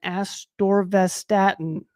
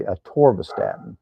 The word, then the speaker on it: atorvastatin: Ken, I'm 62 and doctor wants me on lisinopril and atorvastatin. What natural are How did you alternatives?